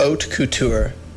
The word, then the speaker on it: haute couture: This is how they say you pronounce it. Haute couture.